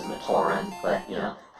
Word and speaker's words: Matoran: It would cost $6.38 to buy 145 Mataron heads. I believe the pronunciation is Matoran, but, you know, it's been a while since Matoran?